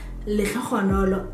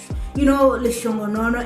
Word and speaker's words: Lekhokhonolo: a phone call and this person wanted to pronounce my name Lekhokhonolo, as I know that many people struggle to pronounce the name, and she was struggling. Can I please speak to Leshongonono, and like Leshongonono, like Leshongonono, really?